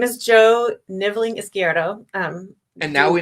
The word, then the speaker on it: Jo Nivling: bit about yourself gosh okay my name is Joe nibling ISO um and now we know why Lenora